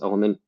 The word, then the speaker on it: LMNT: am an affiliate for lmnt or pronounced element um but uh and